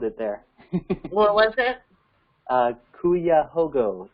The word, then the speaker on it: Cuyahoga: Another question here regarding Ohio: does Devoted have plans in Cuyahoga County, which is Cleveland?